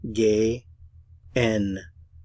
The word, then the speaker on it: gehen: it going in English to go in German is gay G let's take a look at the individual syllables gay n g n to go g the